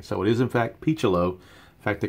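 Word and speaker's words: Picciolo: his pronunciation pronunciation correct it is in fact P chalo not piccolo or PG Olo or whatever else you people might want to call him but on a MLB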